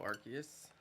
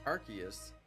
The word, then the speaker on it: Arceus: I never thought it was Arceus because it's Arc, A-R-C, Arc, and then the rest of it is added to the word Arc.